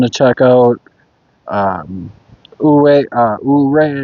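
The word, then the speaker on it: Ouray: Um Uh Uray, I believe is how it's said. Oo, O U R A Y.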